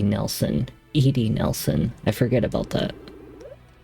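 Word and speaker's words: Edy: Wait, it's not Eddie, it's Edie Nelson. Edie Nelson. I forget about that. It always looks like it's pronounced Eddie.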